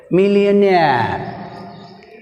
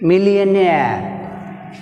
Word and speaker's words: millionaire: In millionaire word nair is last syllable, so take stress on last syllable nair.